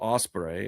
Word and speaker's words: Ospreay: So I am going to pick William Ospreay. Ospreay? Yeah, because it's not spelled like an actual osprey. It's spelled like Ospreay.